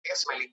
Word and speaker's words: Esmelin: Así está bien pronunciado, Esmelin.